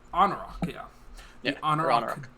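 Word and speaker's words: Anauroch: hailed from the I always forget how to pronounce that desert. Anarok. Anarok, yeah.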